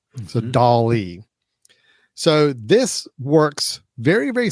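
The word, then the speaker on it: DALL-E: So on that same open AI website, they also have a service that is called Dolly, just like Salvador Dolly, but it's spelled D A L-E or E. So Dolly.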